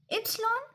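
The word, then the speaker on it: ípsilon: के एख ऐसे ते यू वे डब्ल्यू शीश इप्सलॉन जे।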